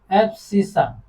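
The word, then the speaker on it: abscissa: x coordinate x कोर्डिनेट्सो call एफसी ठीक है क्या बोलते हैं इसको एफसी यही स्पेलिंग है ए बी एस सी A double S ठीक है एफसी एंड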